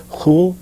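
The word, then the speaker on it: khulʿ: a woman I guess the Arabic word for it is cool or something like this I have a difficult time pronouncing it they often spell it phonetically as k h UL k h UL sort of like a whole but in any case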